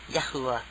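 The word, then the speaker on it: Yahuah: spelling uh y a h u a h yahuwah yahuwah uh okay further back now it's like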